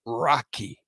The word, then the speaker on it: raki: it's Turkish and it's oh it's called Turkish rocky rocky r-a-k-i listen ing Rocky like it it no it's pretty it's it's it's spelled r-a-k-i-raki right Turkish Rocky right but I'm